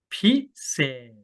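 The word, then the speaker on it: พิเศษ: 여기 , " 피셋 , 피셋 ." "Phi" 는 톤 을 높여 읽고 , "set" 은 길고 하강 하는 톤 으로 읽으세요 .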